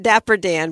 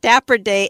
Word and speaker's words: Dapper Day: Not Dapper Dan, but Dapper Day Expo is coming to the Disneyland Resort next month.